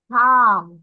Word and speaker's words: calm: এখন আমরা চলে যাচ্ছি আমাদের লাস্ট রোতে, এই চ্যাপ্টার, যেখানে আমরা প্রথমে দেখতে পাচ্ছি কাম। কাম মানে হচ্ছে শান্ত, CALM, কাম। কাম অর্থ শান্ত। এখানে আমরা দেখছো প্রোনাউন্সিয়েশনের সময় এল কিন্তু উচ্চারণ করছি না, আমরা কিন্তু বলতেছি না কাম, আমরা বলছি কাম।